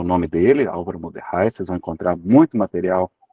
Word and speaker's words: Mordechai: o nome dele, Álvaro Moderrai. Vocês vão encontrar muito material bastante interessante, então dê uma olhadinha depois lá no YouTube. Moderrai se escreve Mordechai, com C-H-A-I no final, Mordechai.